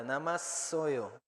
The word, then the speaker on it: 남았어요: vean que en la segunda sílaba tiene doble shiot. Suena más fuerte, namasoyo.